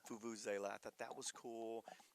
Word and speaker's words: vuvuzela: Vuvuzela. Vuvuzela.